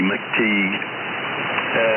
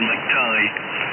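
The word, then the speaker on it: McTigue: mine, Mike McTighe, but it's spelled McTeague, it looks like. M-C-T-I-G-U-E, McTeague. But he always says McTighe. And he was a professional rugby player. The TV commentators always used to call him McTighe, you see. They always called him McTighe, and he pronounced it McTeague.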